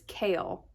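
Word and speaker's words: Chaol: was from it's chaos you have to say his name like chaos so it's kale however i don't like that so i call him cole it's told from cole's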